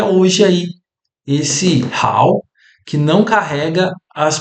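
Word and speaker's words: 好: E agora esse ideograma, ele não carrega a pronúncia que esses ideogramas separados tinham, ele carrega outra pronúncia que agora é how, né?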